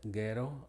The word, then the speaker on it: ghetto: Y es muda generalmente después de la G o la R, como las palabras que vemos aquí. Goat, ghetto, aghast, rhinoceros, rhinitis, and rhythm.